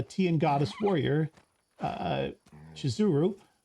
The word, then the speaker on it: Shizuru: name of the Goddess is actually spelled and pronounced uh shizuru or that the misspelling